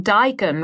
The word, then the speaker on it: daikon: A place where the wine doesn't cost more than my shoes and the waiter won't look down upon me for making daikon rhyme with bacon.